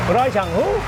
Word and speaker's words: อร่อยจังหู้: จังหู้ rồi chẳng mua อร่อยจังหู้ Can you say that? That's how you say it in Southern. Very delicious. How you say it? อร่อยจังหู้ Rajamu.